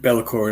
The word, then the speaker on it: Be'lakor: guess before i start is it bella core how am i pronouncing it you've got it bella core it is yeah beautiful man